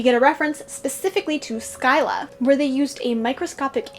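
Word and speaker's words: Scylla: up how to pronounce scilla skyla it's skyla well that's fun how to pronounce odysseus odysseus how to pronounce char char sharp dis charybdis kryptus so i was saying all of them wrong nice good thing i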